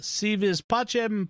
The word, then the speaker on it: Si vis pacem: akin hi jimmy howdy although you're using a latin rather than or an italian rather than latin pronunciation there but okay yeah i